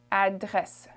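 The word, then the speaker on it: adresse: french is in address the e at the end let's not emphasize well especially not in canadian french did you emphasize a little bit more in in european french so it sounds like unedited okay it's kind of like it's not even there okay pharmacy pharmacy in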